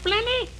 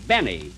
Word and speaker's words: Benny: Jack Blenny? Blenny? No, Benny. The L is silent in there.